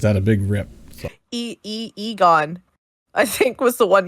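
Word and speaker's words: Eghon: she wants to know what the mark of Egon is. Did I say it right this time? You did. What did I say before? You did. Egon? You said Eeyore.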